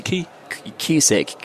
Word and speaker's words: CUSIC: I think we've historically we had FICE, which I've explained already, and then QSIC with the core ultrasound in intensive care, which is say that again slowly. QSIC, core ultrasound. Spell it for us.